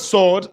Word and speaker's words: sword: In the word sword, letter W is silence. So we don't say sword. So we say sword. Just like we can say, Bible is our spiritual sword, not sword. W is silent.